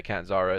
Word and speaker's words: Catanzaro: Caden Carter versus Cassie Cadenzo. How you say it? Shotzi, Catanzaro. yeah, Catanzaro.